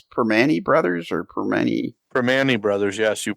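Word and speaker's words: Primanti: Perman brothers or per per Manny Brothers yes you pronounced it right even wow I I always get in trouble because I say it per Monte brothers and it's per Manny but yes I I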